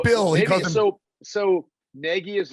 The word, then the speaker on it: Nagy: It should be pronounced very different than how it's spelled.